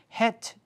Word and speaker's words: Het: Her name is Het, H-E-T, Het Jane. She's from Brazil. And I had to write and say, is that how your name is spelled and how do I say it? And it's Het.